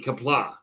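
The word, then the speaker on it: Qapla': But poorly pronounced would be Kapla.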